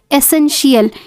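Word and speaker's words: essential: means होता है नियमित एसेंशियल E double S ई एन एस एन टी आई ए एल यहां पे टी आई ए एल को श पढ़ा जाएगा शील एस एन शियल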